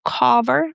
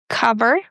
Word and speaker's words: cover: Next one, mother, brother, cover, not cover, but cover.